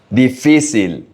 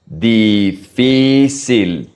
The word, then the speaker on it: difícil: Difícil. Every I is pronounced exactly in the same way. I. Difícil.